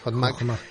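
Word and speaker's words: חכמה: Yo me planteo ahora, doctor, porque según los postulados cabalísticos, sabiduría equivale a la palabra hebrea Hotmak, creo que se pronuncia así, sí, Hotmak, gracias.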